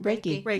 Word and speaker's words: Reiki: Reiki.